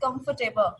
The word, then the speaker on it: comfortable: So it's a comfortable. Okay, that's F is here and come is here and table, not table. Most of the people thinks in the end of this word is a table, so we also pronounce table, but it's wrong.